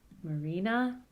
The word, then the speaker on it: Marina: The second name has penultimate stress, so the low is on the penultimate syllable, but the high is still at the end. Marina.